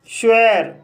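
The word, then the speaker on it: sure: श्वेर, श्वेर शब्द में एस के बाद एच नहीं है, फिर भी यहाँ पर एस का प्रोनाउंस शा हुआ है, इसलिए इसे श्वेर पढ़ा जाता है और श्वेर मीन्स होता है निश्चित।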